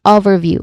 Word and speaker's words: overview: So we say this word is overview with this with the emphasis on the first syllable.